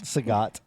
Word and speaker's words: Sagat: it Saget or Sagat? Sagat.